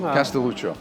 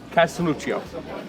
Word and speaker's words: Castelluccio: pronounce the last name calucho calucho yeah you don't have to say EO at the end calucho calucho yeah I'm